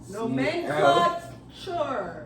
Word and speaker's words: nomenclature: Cause you ain't know, cause I was about to change the A to something else, cause you pronounced it like it was an I.